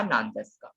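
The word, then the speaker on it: なんですか: So here you see this U is again there, right? So you do not pronounce the U. So it's like O na ma e wa nan des ka.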